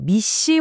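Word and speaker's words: MECE: 바로 미시 원칙인데요. 미시라고 읽어요.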